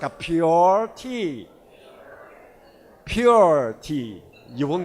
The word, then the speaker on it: Puer: it may become a poor tea so I suggested to the company don't say poor tea it will sound like a poor tea so say it like a pure tea so you sound